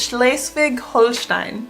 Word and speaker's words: Schleswig-Holstein: Number 15 is Schleswig-Holstein.